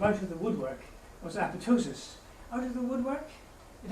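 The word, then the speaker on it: apoptosis: he came up with apotosis being a good Scott he said you don't pronounce the second P years later after all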